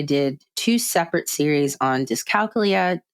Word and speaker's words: dyscalculia: two separate series on dyscalculia dyscalculia as most say which I'm starting to believe that is a correct way to say it I think I've been saying it wrong and then I also